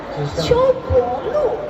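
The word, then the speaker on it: 秋柏路: 秋柏路。像伯伯的伯。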